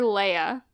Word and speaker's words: Leia: layers Lea everyone calls it layer it's it's Lea it's clearly Lea are in the in the movie no they only mentioned it once they call her leia and in the prequel trilogy Padme pronounces her